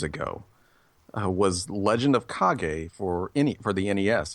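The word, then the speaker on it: Kage: we see Legend of KAG and I just kind of sat there because I realized for a good 33 years I've been pronouncing this thing as Legend of cage to people and I don't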